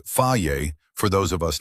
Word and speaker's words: Fage: Fage, pronounced Faiye for those of us not fluent in Greek, has been doing this since 1926.